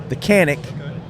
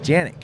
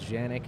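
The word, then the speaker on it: Canik: I'm gonna I'm gonna say it wrong first mechanic which is a very hot product for you guys it's it's taken off and done really well but it's pronounced Janek correct the original Turkish is is Janek it's a region in Turkey but we've even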